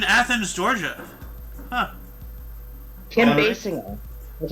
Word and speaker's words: Basinger: Basinger. That's how you say her name. Okay. Basinger. Basinger.